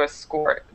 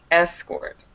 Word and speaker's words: escort: catch the difference no to escort is the verb so the the stress is on the second syllable to escort and the noun is an escort so then so the the stress is on the E okay okay so it's